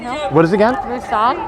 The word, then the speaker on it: Musang: Musang down in Beacon Hill. What is it again? Musang. Musang. How do you spell that?